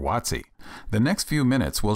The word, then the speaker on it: WOTC: If you think you might want to apply for a Work Opportunity Tax Credit or WOTC (pronounced “watt-see”), The next few minutes will show you how to do it.